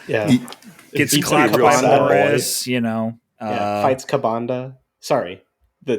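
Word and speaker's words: Ka'Bandha: you know uh fights kabanda sorry the to use the European pronunciation carbonda Oh I thought it was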